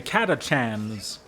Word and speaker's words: Catachan: regiments is called the catachan so it is spelled c a t a c h n Cat a Chan so Katan is a